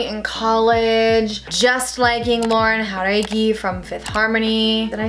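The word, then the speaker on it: Jauregui: know like you know her name is Lauren her eggy but I've been watching interviews of her lately and she's been saying Lauren how tidy which is obviously the way to pronounce her last name so I'm just trying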